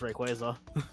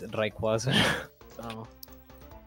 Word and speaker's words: Rayquaza: don't know i mean it's pronounced rayquaza oh okay well in spanish is reikwasa i think that's how that's also how i pronounce it probably ted because in